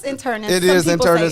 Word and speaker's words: internist: No, it's internist.